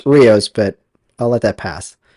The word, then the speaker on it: Rios: You're Riyos.